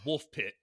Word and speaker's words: Woolpit: catching wolves that gave the village its name woolpit is actually pronounced wolfpit see right there it tells me in the